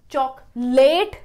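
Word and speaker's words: chocolate: Choc-laht, not choc-lay-te.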